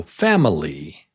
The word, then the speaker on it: family: Yes, 3 beats. And syllable number 1, number 1 is the strong syllable.